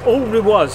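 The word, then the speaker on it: Alrewas: all ruat all rules all Ru was all we was that's how it's pronounced I have it on good authority it's all Rewards um which is a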